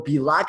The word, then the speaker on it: Bielak: Today on the show, we have Bielak. Am I pronouncing that right?